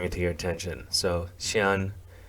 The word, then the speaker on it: Siyeon: i always bring it to your attention so xi'an it's it's spelled s-i-y-e-o-n but it's pronounced chian um she's just the main vocalist of the